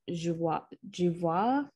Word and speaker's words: Joie: So she grew up being called Joie. But she likes to be called Joie.